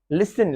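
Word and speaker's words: listen: Basil, T silent है। जोसिल, धक्कम धक्का होती है, जोसिल। लिसन, लिसन टू me carefully, जैसे होता है मेरी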